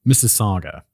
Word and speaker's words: Mississauga: French stuff let's see Mississauga okay sounds like Mrs Saga okay easy Carla's family